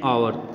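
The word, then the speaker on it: hour: जैसे कि एन आवर, एच का साउंड साइलेंट है।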